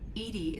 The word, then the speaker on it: EDI: EDI is the phonetic pronunciation of EDI.